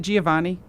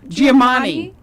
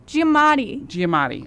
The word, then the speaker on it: Giamatti: Is it Giovanni? Are you seeing that too? No, I just know what his last name is, but I stopped pronouncing it because I got nervous. Paul Giovanni. Yeah. Okay. No, Giamatti. Giamatti. Okay, that's what it is.